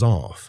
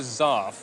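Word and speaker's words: zarf: It is known as zaf, an unusual sounding word that comes from the Arabic word for envelope.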